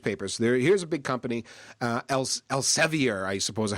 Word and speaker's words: Elsevier: Here's a big company, Elsevier, I suppose is how you pronounce it. They're a huge... Elsevier. What's that? Elsevier.